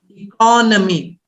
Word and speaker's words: economy: you say economy so in the word economy it's a noun form stressed on economy economy but if you're saying